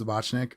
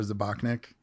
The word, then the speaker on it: Zbacnik: My last name is Zbacnik. It's a tough one. It's pronounced Zbacnik or Zbacnik, or you can just call me.